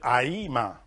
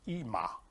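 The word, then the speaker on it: אמא: that is called ima sometimes we call it aima because there is literally left there in the world but really in hebrew is is named is pronounced ima but you want to read all the letters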